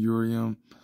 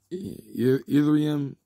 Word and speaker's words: Ethereum: books ethereum I know I know I'm pronouncing it wrong but I heard it worked so many times I'm trying to say it right ethereum is a blockchain like